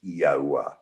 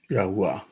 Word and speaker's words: Yahuwah: usage, we determined that the correct pronunciation was Yahuwah. Yahuwah.